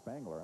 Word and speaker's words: Spangler: My apologies for mispronouncing it's Garrett Spangler. I don't know whether I guess I've been calling him Garrett Springer.